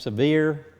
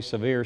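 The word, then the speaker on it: Sevier: course Camp SE Camp severe se you hear it pronounced a lot of way severe seems to be the most popular in South Carolina that is now a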